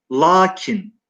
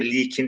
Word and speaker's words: lakin: Lakin L, kef ve nunla yazılır. La uzun okunur. Hatta şiirlerde, eski metinlerde likin şeklinde okunuşu da vardır arkadaşlar.